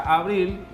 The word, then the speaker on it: abril: con la palabra abril la palabra abril tiene dos sílabas dice abril qué pasa acá lleva a su mayor fuerza de voz en la sílaba abril pero ella no se